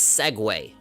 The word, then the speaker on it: segue: make him stronger so that word s-e-g-u-e so you pronounce that as segway right segway isn't like